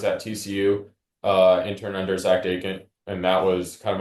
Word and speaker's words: Jungels: So Jared, real quick, how do you pronounce his last name? So it's Jungels. It's Jungels. Yeah, it's not. I've heard it pronounced like 10 different ways, and I never know which way is the right way.